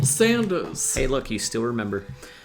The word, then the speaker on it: Sanders: I'm forever going to call him Colonel Sandels. It's Colonel Sanders.